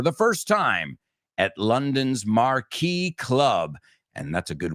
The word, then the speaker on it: marquee: first time at London's Marquee Club. And that's a good word to know. Marquee is marquesina. Se escribe marquís, marquís, pero se dice marquee.